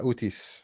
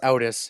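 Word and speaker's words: Outis: Uh Utis, is that I'm pronouncing that right? It's uh that's not my real name. It's just my online name. It's Otis. It's Greek. It's Greek for nobody.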